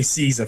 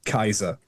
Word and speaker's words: Caesar: So, we say we say Caesar, for example, which is an anglicization. A classical Latinist would would say Kaiser, and in the in the church, we'd say cheesa.